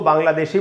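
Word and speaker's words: Bangla: तो दोस्तों, इसको ब्रिटिश इंग्लिश में तो ऐसे पढ़ेंगे बांग्ला। अच्छा दोस्तों, ल के बाद आधा अ है, ये ला नहीं होगा, इंग्लिश की बात कर रहा हूँ मैं।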